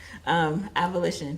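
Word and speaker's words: avolition: Maybe I'm pronouncing it wrong. A-V-O-L-I-T-I-O-N? Oh, got it. Abolition.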